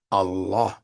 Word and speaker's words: Allah: is not abbar and there's nowhere in the Quran where Allah extends the pronunciation of that title Allah Beyond one vowel beat Allah that's it Allah that's it not Allah that's not in the Quran that was the way the Pagan Arabs used to pronounce the name Allah and he was a